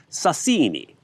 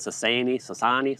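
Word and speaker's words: Sasieni: Uh at Tom Brown 1898 says sassini. Emphasis on the second syllable.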